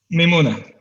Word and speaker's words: Mimoona: I'm not sure how to pronounce it correctly. It's that's Mimoona. Mimoona.